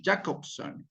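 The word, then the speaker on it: Jakobson: la comunicación atribuidas atribuidas por jacobson como se pronuncia no J a K o b grande s o n jacobson al texto referente coma al texto referente coma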